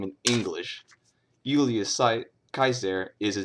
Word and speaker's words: Caesar: Julius Caesar right well if you follow the rules I already went over it's simply Julius Kaiser all right Kaiser obviously